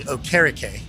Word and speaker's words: Okereke: 3 years into his career, I think, he changed it to Bobby Okereke. Okay, which is proper pronunciation, I do believe, from that.